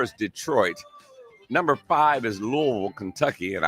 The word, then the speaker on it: Louisville: detroit number five is louisville kentucky and i did say louisville louisville they don't like lewisville or louisville it's low so you gotta say it